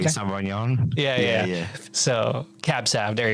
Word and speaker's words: Sauvignon: server at that restaurant, I'm like, hey, I'm pronouncing this wrong. The Cabernet Saint Blanc or something like that. Sauvignon.